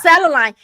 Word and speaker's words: selenite: I hope I pronounce it right. Selenite. Selenite. Yeah, it's selenite.